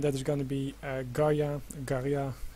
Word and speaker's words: Garja: streamed today and that is going to be garia garia how he wants to pronounce it versus CH uh it's going to